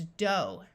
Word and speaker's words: dough: In this word, we have a long O sound, so this word is dough.